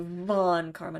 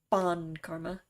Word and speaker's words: von Karma: It's a Von Karma, not a Bon Karma.